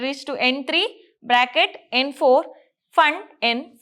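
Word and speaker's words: Pfund: series bracket series and fun series here p is silent so we'll call it as fun series these are the five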